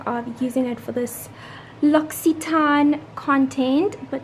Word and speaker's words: L'Occitane: I always thought it was L'Occitane or L'Occitane, but it's L'Occitane. I googled it to make sure that I have the correct pronunciation.